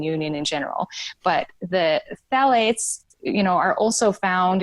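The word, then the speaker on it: phthalates: h a l A tes and it's uh pronounced phalates but those um it's often used as emulsifier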